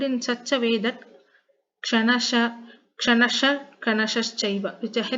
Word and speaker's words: Kshanashah: So here this Visarga should be spelled in such a way that Kshanasha, Kanashaschaiva, which is a H sound. The Visarga must be pronounced with the H sound.